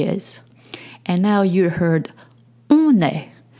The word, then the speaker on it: on est: And now you heard on est. On est, it's spelled O-N and then E-S-T. On est, it's spoken French for we are.